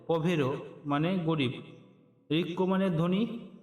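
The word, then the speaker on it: povero: ধনী ধ্বনির পরে পরে রয়েছে গরীব গরীবের ইতালিয়ান উচ্চারণ হবে পরে পভেরো পভেরো মানে গরীব ঋক্ মানে ধনী পভেরো মানে গরীব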